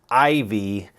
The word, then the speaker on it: IYV: I believe it's pronounced Ivy, but it's not spelled Ivy.